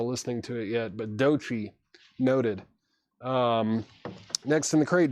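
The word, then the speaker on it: Doechii: It's pronounced Dochi. Okay, cool. Sorry, Laura. I haven't heard people say her name, so I wasn't sure, but thank you. Dochi.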